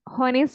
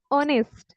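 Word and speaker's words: honest: बी होनेस्ट बी ऑनेस्ट होनेस्ट नहीं ऑनेस्ट बी ऑनेस्ट ऑनेस्ट ठीक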